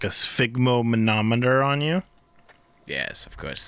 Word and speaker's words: sphygmomanometer: Sphygmomanometer. Yep. Am I really saying that right? Yeah. Sphygmomanometer. Sphygmomanometer. Yeah. That's the Canadian pronunciation.